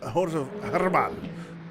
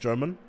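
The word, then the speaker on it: Germán: lap time, Joseph German, or Joseph Herman, because he is Mexican. So it's not pronounced German.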